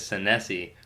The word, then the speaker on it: Senesi: sensei but my my last name is san se which is an Italian last night I think it's actually pronounced is what sometimes Italians tell